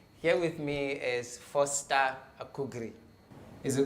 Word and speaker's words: Akugri: by enterprise bureau here with me is foster akugri is it correct yeah you got it right